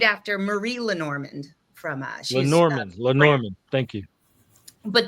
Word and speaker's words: Lenormand: It's But Lenormand. how you doing? Good. I It's would it's named after Marie Lenormand from she's Lenormand.